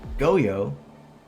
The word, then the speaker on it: Goyo: We might see the Goyo. That's how you pronounce it.